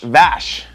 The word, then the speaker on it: Vash: No, it's kind of like Dash, but it's not Dash. It rhymes with Dash. Splash. That's It's Splash. not, It's not Splash? Splash. Someone's going to be named Splash. No, his name is Vash.